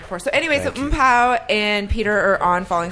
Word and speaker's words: Mpho: OOM-PO would be like the phonetic way of kind of spelling my first name, right? Mpho, Mpho, yeah.